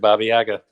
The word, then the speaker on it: Baba Yaga: So I brought up Baba Yaga. Is that did I pronounce that right? That's perfect, Baba Yaga.